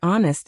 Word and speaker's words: honest: And don't forget words like honest and hour, where the H is silent.